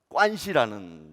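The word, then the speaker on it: 关系: 있는데 그 중에 하나가 관시라는 단어입니다. 우리 한국말로는 관계라고 쓰지요. 그런데 중국 사람들은 관자는 똑같이 읽지만 개자는 한일자 머리 밑에 그 실사자를 쓰지요. 그래서 사자, 그 시 발음을 해서 중국 사람들은 관시 그렇게 읽습니다.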